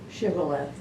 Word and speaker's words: Shibboleth: How would you pronounce that word? Shibboleth.